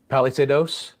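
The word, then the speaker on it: Palisadoes: Palisados is how you say it.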